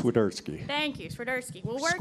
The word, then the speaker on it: Swiderski: winning Crew Chief cinski I don't think I pronounced that perfectly but okay go ahead and say your last name though so they know exactly how it's pronounced swerski thank you swerski we'll